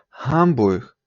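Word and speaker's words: Hamburg: так само мух тобто німці говорять гамбуг як я раніше сказав це не буде зовсім г і звичайно не вимовляти що це буде чиста ха і третє слово у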